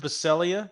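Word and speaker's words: Baccellia: I don't know much about Mike Wilson it's pronounced baselia go ahead I'm pretty sure that's true and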